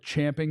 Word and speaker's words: champing: it's Chom so go chomping you're you're good with me it's champing at the CH we pronounced Ching but yeah we don't care we're going chomping that's Champion the more